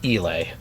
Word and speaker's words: Eli: elay elay yeah um I think they pronounced it Ellie in this movie they do um but the the audio book pronounces it elay yeah which makes because it's Elias I and I believe that's correct so I I before